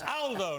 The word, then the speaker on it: Aldo: knocked me up on his Aldo not older Aldo's a very British pronunciation in Italian uh good to see